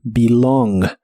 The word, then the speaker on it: belong: El verbo pertenecer en el presente de inglés es belong, la E se pronuncia como I, belong.